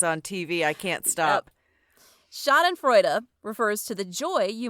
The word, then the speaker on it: schadenfreude: The vocabulary word of the week is schadenfreude. Huh? Okay, here's how you pronounce it. Never in my life. Schadenfreude.